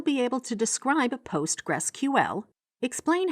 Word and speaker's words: PostgreSQL: this was soon renamed postgresql and is today generally pronounced as simply postgres you can use it